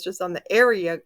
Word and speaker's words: Aria: it's just on the area a r i a I think that's how you pronounce it or maybe Arya but anyway it's coming